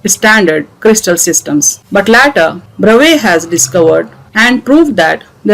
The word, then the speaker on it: Bravais: In 2 dimensions, there are 5 Bravais lattices, whereas in 3 dimensions, there are 14 Bravais lattices as discussed just now.